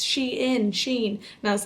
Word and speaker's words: Shein: So I absolutely love Shein, and I used to always pronounce their company wrong. I used to always say Shine, and then everyone corrected me and was like, Emma, it's Shein.